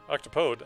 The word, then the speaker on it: octopode: graphical thing for the Octopod H octopode I said it right then I tried to catch myself like oh you're saying it wrong oh two failed transmutations